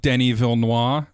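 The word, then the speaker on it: Denis Villeneuve: name and I think I've settled on den evil mwah as my pronunciation next worry I'm just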